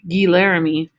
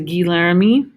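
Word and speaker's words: Guy Laramée: Is it Guy Laramie? No, it is pronounced Guy, trust me. French name is not Guy, it's Guy.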